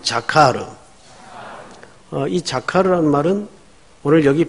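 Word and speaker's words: זָכַר: 중심 언어가 될 겁니다 그래서 히브리 음으로 한번 여러분 어 되내어 보는 것이 어 신앙의 유익이 될 것 같아서 한번 같이 따라서 해 보십시다 어 자카르 어우 발음 좋아요 다시 한번 자카르 어이 자르라는 말은 오늘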